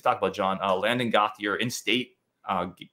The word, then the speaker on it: Gauthier: about John uh Landon gothier in State uh gothier I think is the pronunciation in State linebacker um